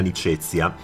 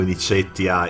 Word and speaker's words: Nicetia: governato dalla governatrice Agrippina Nicezia. Lo leggo con la pronuncia ecclesiastica, non mi condannino i puristi se non dico Nicetia e se pronuncio i nomi delle navi sideralis in latino ecclesiastico.